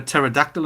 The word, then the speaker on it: pterodactyl: can't you hear a pterodactyl in the bathroom because it has a silent p is it spelled with